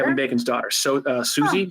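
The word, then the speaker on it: Sosie: Bacon's daughter so uh Susie Susie bacon I think is how you say it it's spelled like s-o-s-i-e hey Chris uh uh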